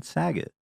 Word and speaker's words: Saget: What's the common misspelling on Saget? Well, it rhymes with stuff, so I had a rough childhood.